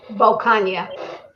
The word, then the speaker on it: Bocania: Bocania. Bocania. I would have. It rhymes with lasagna.